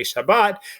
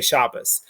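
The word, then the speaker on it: שבת: to the ashkenazic so they used to say shabbat and now they say shabbos and they used to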